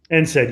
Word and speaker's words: NSAID: I think that's how it's pronounced. NSAID, yes. Okay.